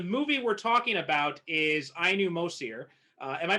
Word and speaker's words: Ainu Mosir: uh so the movie we're talking about is i knew most here uh am i pronouncing that correct yeah yeah so um i